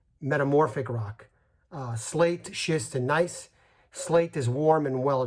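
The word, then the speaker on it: gneiss: last one would be nice it's spelled g-n-e-i-s-s but it's pronounced nice it's very it's infertile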